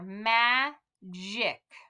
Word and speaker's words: magic: soft g's now so we know this is going to be a soft g the j j because of this i right here so let's say together ma jic magic if you tried to